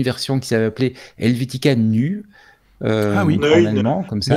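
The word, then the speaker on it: Neue: qui s'avait appelée Helvetica Nu, en allemand, comme ça. Attention, il faut prononcer à la Suisse allemande.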